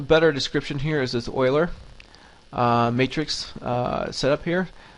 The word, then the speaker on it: Euler: uh formulas and um this is how you pronounce it it's Oiler not you it's Oiler um okay so here